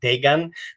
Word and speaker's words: Dagon: Paul, when it comes to this deity that we'll be dissecting tonight, it's pronounced Dagan, but sometimes even Dagan, based on the spelling. Sometimes after G, some manuscripts have O, some have A, but basically it's the